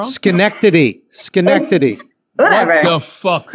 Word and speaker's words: Schenectady: How's it pronounced? Christian Schenectady. Schenectady. Whatever. That's Cincinnati. Same thing. It's Schenectady.